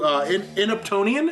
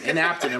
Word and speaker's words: inaptonym: I learned the definition to inaptonian. Is that correct? Did I pronounce that right? Aptonym. Aptonym. Inaptonym.